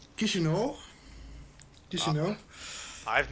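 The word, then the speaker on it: Chișinău: think if it's uh if you pronounce it correctly it's uh kishino did you know i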